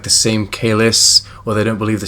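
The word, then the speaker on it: Kahless: They say Kalis, not Kailash.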